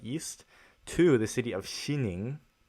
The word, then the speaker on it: Xining: nijing in the east to the city of xining it's spelled x i and ing in western china